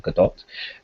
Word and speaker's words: Gadot: Gadot I realized that you apparently pronounced a surname Gadot Godot always seems like more stylish to me so I'm going to keep calling it sorry girl but um